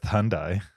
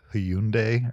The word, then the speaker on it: Hyundai: emphasize syllables right Adidas same thing with Hyundai it's like Hyundai or something like that okay but here in the US it's Hyundai even though even in their commercials it's Hyundai you have to anglicize it just to make it more palatable yeah did you know